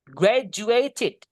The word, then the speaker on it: graduated: Graduated itu lebih lulus. Graduated ini bacanya, Guys. Gradu D, dan U sama kayak tadi dibaca J. Gra gini jadi gred graduated ya graduated ini paling tepat